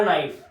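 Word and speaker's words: knife: नाइफ नाइफ का है अब इसकी स्पेलिंग है के एन आई एफ ई लेकिन मुझे बताओ नाइफ में के की आवाज आ रही है व आप कहोगे के की आवाज नहीं आ रही तो हम के बनाएंगे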